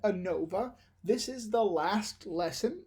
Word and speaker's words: ANOVA: lesson 11 is called ANOVA ANOVA 8 and OVA and you pronounce that ANOVA this is the last